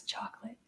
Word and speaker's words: chocolat: in the a sound chocola oh that's chocolate now the t is silent in this word so it's pronounced chocola